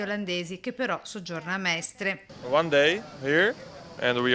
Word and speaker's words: Mestre: coppia di fidanzati olandesi che però soggiorna a Mestre. One day here and we are staying in Mestre, if I pronounce it good.